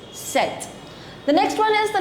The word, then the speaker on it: sept: The letter P is silent. Instead you pronounce T. You have to pronounce T, but you don't have to pronounce P. So you say set. It's not sept. It's set.